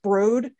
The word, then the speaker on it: Broad: is uh it's not it's spelled broad but i think it's pronounced brode uh he's he's he